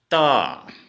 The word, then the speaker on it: ত: ठीक है दोस्तों, जैसे ये त, हम हिंदी में त बोलेंगे लेकिन असमिया में इसको तो बोलेंगे। इसको दोनताय तो बोलते हैं। असमिया में क्या बोलते हैं? दोनताय तो, दोनताय तो।